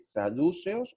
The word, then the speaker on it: saduceos: corrija con el acento, no sé si se dice saduceos o se dice saduceos. Ya acá, ¿cómo se dice? La forma correcta. Saduceos. Saduceos. Bueno, en la época de